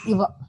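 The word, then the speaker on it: इव: So, Guruji, is that Rutha plus Eva or Iva? A short E or long E there? There is no word Eva. Only Iva.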